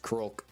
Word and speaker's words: Kro: How do you pronounce uh my name is pronounced Kro just kro pretty much exactly how it's spelled.